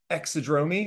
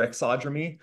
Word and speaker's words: exodromy: of the day is exod dromy or exod it's a madeup word I've heard it pronounced both ways so you know whichever